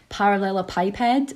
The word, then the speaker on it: parallelepiped: an unusual one yeah I had someone um wildly correct me one time that it should be par should be parallel a pip head um and then I'm